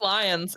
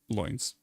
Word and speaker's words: Loynes: It's just lions. It's lions, dude. I'm gonna pronounce. It's lions, but loins for comedic purposes. It's lions though.